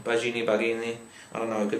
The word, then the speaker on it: Baggini: Baggini? I don't know, it could be Italian. I think it might be spaghetti. Julian Spaghetti? Possibly. It's Julian. Carry on. Oh, okay. Okay. It's Julian Baggini.